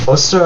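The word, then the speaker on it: Ēostre: what ostra is so ostra or yra which just slight uh difference in pronunciation is the Saxon deity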